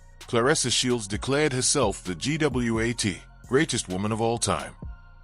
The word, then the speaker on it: GWOAT: Yes, like goat, but W GWOAT, yeah.